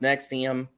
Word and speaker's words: NXIVM: gonna bring it home but anyways uh uh pronounced next iam is a group that started in 1998 as